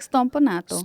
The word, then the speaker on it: Stompanato: You have to say it like Stompanato.